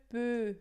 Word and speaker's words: peux: Je peux, aqui esse X final não pronuncia.